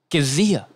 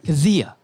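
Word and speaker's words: Kizziah: 252, Jeff Kizia. It's K-I-Z-Z-I-A-H. Okay, I would have not guessed that because you pronounced it like it had a G in it. Kizia.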